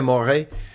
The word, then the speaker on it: môre: Or if it's morning, goeie môre. Môre is spelled like môre, m o r e with a little accent over it, the letter e.